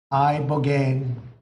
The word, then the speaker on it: ibogaine: In 2024 study from Stanford University, 30 special operation veterans with traumatic brain injuries underwent, it's called ibogaine treatment. Ibogaine. Remember the name. Is that pronounced relatively properly, would you say?